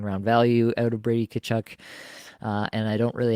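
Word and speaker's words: Tkachuk: take here is Brady kachuck said it intentionally slowly so I could get that pronunciation right for everybody there um Brady kchu I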